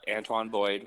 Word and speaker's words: Antoine: Uh, Antone Boyd, is that how you pronounce his first name? Yep, Antoine Boyd, call him Antoine.